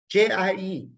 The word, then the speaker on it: 姐: This second character, J-I-E, I-E, it does not rhyme with L-I-E. Don't lie to me, L-I-E. Not at all. It's ye. Ye is the sound for I-E. So the sound is J-I-E is jie.